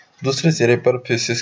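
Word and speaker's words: fauces: इसको फॉसिस प्रोनाउंस करते हैं और ये बढ़ता है फेरिंग्स की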